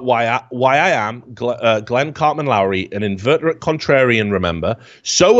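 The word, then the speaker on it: Loury: Now, I'll direct you to Glenn, I think it's pronounced Lowry.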